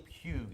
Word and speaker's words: Puig: We want to pronounce that Puig. Puig. Sounds better. Did I say Puig? Yeah, we want I'm so Puig. sorry, it's Puig.